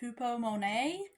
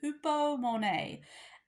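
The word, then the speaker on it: ὑπομονή: So, enduring, Strong's number 5281, hupomone. Editing me here, that word is actually pronounced hupomone.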